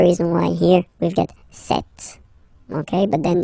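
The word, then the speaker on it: cette: Okay, so let's see that again, se, and then set, feminin set. So you can notice that phonetically these two are pronounced the same way. Okay, set here and then set here.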